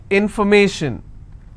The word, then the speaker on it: information: more number of syllables information first i will break it in for me so where do i stress i will stress on me information if i have